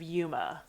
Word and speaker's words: UMA: It's It's Yeah, it's unidentified mysterious animals and it's got the pronunciation of Yuma.